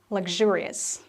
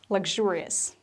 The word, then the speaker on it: luxurious: here comes a tricky one how would you pronounce this word was an x you should say luxurious luxurious come from luxury luxury another word that is